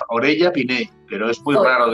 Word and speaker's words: Orella: Orella. Sí, pero Pinel. Aquí en España las dobles L's se pronuncia la L, ¿no? Orella Pinel, pero es muy raro de pronunciar, yo entiendo.